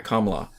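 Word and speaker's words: Kamala: there's two different ways I think it's comma but I'm not 100% sure KLA okay yeah emphasis on Accent on the first syllable okay is that they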